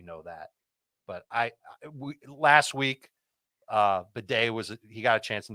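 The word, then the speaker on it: Badie: In Denver, Tyler Beatty. Or I'm sorry, I've mispronounced his name. It's Bidet. No, it's not. I thought you were joking about that. No, he would prefer it be pronounced Bidet.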